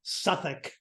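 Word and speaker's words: Southwark: so here is Suffolk South work is how it's spelled but if you're in English it's Suffolk by the way I was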